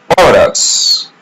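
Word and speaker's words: horas: Orus. In the word orus, letter h is silent. So we don't pronounce it.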